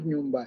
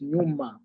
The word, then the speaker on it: nyuma: You things like nyum, it's not nyumba, it's nyuma. It means back.